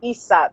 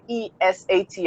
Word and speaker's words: Isat: My name is pronounced Isat. So it's spelled Isat, but for English people, you pronounce it Esat. I don't know if that makes sense. So Isat or is I don't know, like Isa. It's Isa, just Isa.